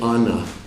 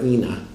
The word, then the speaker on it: Ana: If he was talking about himself, he would say, in Aramaic, it's actually Ana. Aleph Nun Aleph. It's generally pronounced Ena or Ina, okay, or Ana.